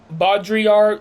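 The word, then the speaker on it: Baudrillard: I can't pronounce his name. It starts with a B. Jean Bodriar.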